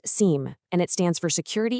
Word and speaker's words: SIEM: It's pronounced seam, and it stands for security information and event management.